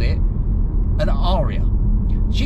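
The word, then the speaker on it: Ariya: nice lady actually but she pronounced the car orya and I did think to myself is she getting it wrong or have have Nissan now decided that that's how you should say that name of the car because you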